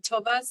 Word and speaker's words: Taves: that's up Alon um toas is if I'm mispronouncing your name please correct me you have the Elson Taves it rhymes with slaves and caves and Raves I'll tell you that